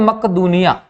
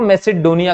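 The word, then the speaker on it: Macedonia: हुआ था यूनान में तो बोलते हैं मकदुनिया मक्क दुनिया में जिसको हम लोग इंग्लिश में अगर प्रोनाउंस करें दोस्तों मेसेडोनिया कहा जाता है तो मेसिडोनिया या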